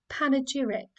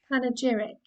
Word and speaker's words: panegyric: button it tells you how to say it panegyric panegyric now this is really useful because when you